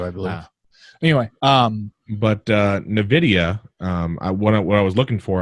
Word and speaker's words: NVIDIA: Actually, NVIDIA, not NVIDIA. Yeah, it's NVIDIA. It's basically... Well, it's spelled wrong. NVIDIA, the GTX 10 series... is not silent, but it's see-through. It's NV. Yeah, it's NVIDIA.